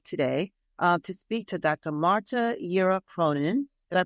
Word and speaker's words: Marta Yera Cronin: Marta Yera Cronin. Did I pronounce that correctly, Dr.